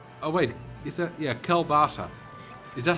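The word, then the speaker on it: kielbasa: I know people who pronounce Kelbasa as Kebossi. I have no idea what... Oh, wait. Is that... Yeah, Kelbasa.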